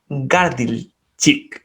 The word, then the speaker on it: Gardilcic: públicas, del mundo de las organizaciones, con Iván Gardilchik. Después me corregirás, Iván, si es que lo pronuncié bien o mal.